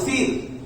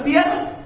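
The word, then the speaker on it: سِيَر: উচ্চারণ করতেছেন কিতাব ও সির, শব্দটা সিয়ার এটাকে উচ্চারণ করতেছেন কিতাব ও সির।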